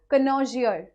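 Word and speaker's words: connoisseur: Pronounce करिए, क्या बोलेंगे? कनोजियर।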